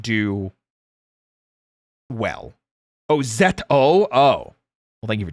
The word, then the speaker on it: ZO: Oh, Z O. Oh. Well, thank you for telling me. I do like having my pronunciations correct.